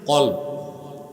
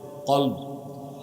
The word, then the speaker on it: কলব: বাম বুকের দুই আঙ্গুল নিচে কলব কলব কাল না অনেক মৌলভী সাবও দেখি বলে কাল কাল মানে কুত্তা উচ্চারণ কি হবে